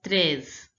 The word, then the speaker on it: treize: 12, 13 is pronounced as treize. Treize. The EI sound is pronounced as a. So it is treize.